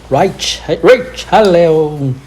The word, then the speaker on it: Richelieu: Richelieu, like it's French, right? They Yeah. pronounce differently. Richelieu.